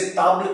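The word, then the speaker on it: table: ऐसे टेबल को आप देखेंगे सेम स्पेलिंग है, इसे ताबल कहा जाता है और ये फेमिनिन है।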